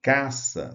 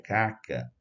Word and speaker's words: caça: cedilha importante então caça se a gente não põe um cedilha aqui seria caca né o leitor né muitas vezes leria caca é claro que em determinado contexto você vai saber que a pessoa queria escrever Cac mas o leitor pode né precipitadamente ler como caça então o cedilha é